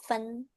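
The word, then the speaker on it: 份: sama ya ini ada pa panya angka del ya sama tau centa punya tau gitu tapi ini bacanya jadi fen fun heeh eh nada nada empat fun fun fun artinya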